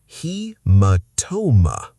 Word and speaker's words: haematoma: British spelling has extra A compared to American. Haematoma. The first syllable sounds like he, not hey.